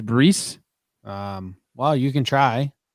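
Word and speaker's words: Bryse: yes and the y it's brees his name is breese um well you can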